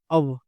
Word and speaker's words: of: एक चीज बहुत इंपॉर्टेंट, इसको ऑफ नहीं बोलते, इसको यूजुअली हम, इसको सही प्रोनाउंसिएशन होता है अब, क्या होता है? अब, है ना? इसको फा ना बोल के वा बोला जाता है।